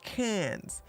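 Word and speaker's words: Cannes: can no it's pronounced can's the can's film F Festival the can's Film Festival right the cans cans like cans of soup okay all right so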